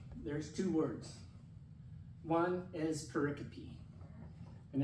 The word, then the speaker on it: pericope: One is pericope, and it's spelled P-E-R-I-C-O-P-E, okay?